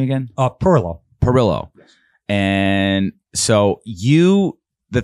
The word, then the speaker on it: Pirillo: do you say your last name again uh Perillo Perillo and so you the thing that you